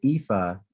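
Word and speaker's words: Aoife: his other uh colleague her name is IFA and it's spelled a-o-i-f-e Fitz Morris she's the director of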